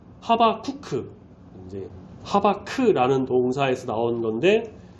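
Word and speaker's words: חֲבַקּוּק: 어 하바국의 히브리어 본래의 발음은 하바쿠크 이제 하바크라는 동사에서 나온 건데 하바크라는 동사의 의미는 뭐냐?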